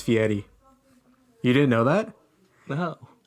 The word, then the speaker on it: Fieri: pronounce it it's not Fieri its fee Eddie you didn't know that no he was way too American to put an Italian accent on that last your ass just